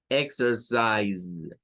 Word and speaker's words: exercise: de acá, S, y un sonido vibrante que suena como una Z. Entonces es como Z, exercise, exercise. Vendrían siendo las tres sílabas de esta, siendo la primera la sílaba tónica de la palabra.